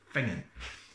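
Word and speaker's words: Finzean: Fingon is spelt F-I-N-Z-E-A-N. F-I-N-Z-E-A-N. Fingon. Curious Scottish pronunciation.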